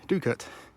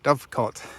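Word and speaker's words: doocot: It was a Belvadier or a uh a viewing point and also a ducat or dove cot if you're going to pronounce it phonetically.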